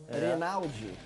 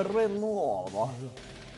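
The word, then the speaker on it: Reynaud: Tem um nome meio francês. Renaldi. Mas a pronúncia é Renault.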